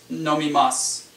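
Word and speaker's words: 飲みます: In lots of verbs, the final su is not pronounced as a su, it's pronounced as a s. Shimasu, tabemasu, nomimasu.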